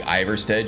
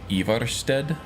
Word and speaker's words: Ivarstead: be pronounced carth wasston and like iverstead should be ivarstead and uh uh